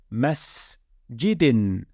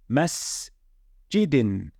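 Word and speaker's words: مَسْجِدٍ: We've got the mim with a fatha, sin with a sukoon above it, the jim with a kasra, and the dal with a kasra tan. How are we going to pronounce this word? It would be masjidin, masjidin, masjidin.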